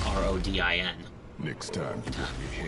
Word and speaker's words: Rodin: And now we meet one of the best characters in the series, Father Rodin. No, it's spelled R-O-D-I-N.